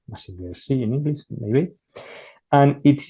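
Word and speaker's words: Mazinger Z: I don't know the correct pronunciation in English. In Spanish, it's Massinger Z, Massinger C in English, maybe.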